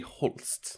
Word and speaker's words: Holst: and he's German, so is it like Holst? How's it pronounced? It would be Holst. Holst.